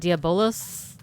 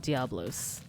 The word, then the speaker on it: Diabolos: I call it Diabolos, but I believe it's called Diablos.